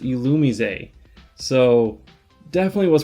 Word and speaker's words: Illumise: just before I filmed this video, it is pronounced Illumise. So definitely was pronouncing it wrong. I was saying Illumise this whole time. It's Illumise, or Illumise.